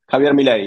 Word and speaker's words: Javier Milei: And this guy that's running for president right now, he's run the what's his name, Javier Milei, or how do you pronounce it? Javier Milei, yeah.